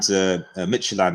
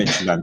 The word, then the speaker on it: Midtjylland: You know, just behind Midtjylland, I think, is how you pronounce it. I think FC Midtjylland, yeah.